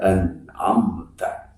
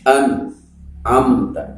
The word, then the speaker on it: أنعمت: Nun sukun menghadapi ain, dibacanya harus seperti tadi, suratal ladzina an'amta, tetapi jangan terputus, jangan begini an'amta, tidak boleh, harus berjalan. Dan jangan ada pantulan seperti qalqalah, seperti begini an'amta, tidak boleh, tetapi harus jelas an'amta, an'amta